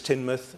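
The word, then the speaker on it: Teignmouth: right and Parson's tunnel to tinmouth not tinmouth I'm afraid it's tinmouth tinmouth is somewhere else tinmouth give or close it's very confusing because it's tinmouth and it's teen Bridge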